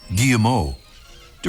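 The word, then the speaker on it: Guillemot: the wings are folded the name gilat comes from the French where the pronunciation would be something like gimo d driving from the name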